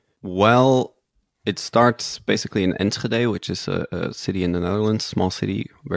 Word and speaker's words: Enschede: Well, it starts basically in Enschede, which is a city in the Netherlands, small city, very boring.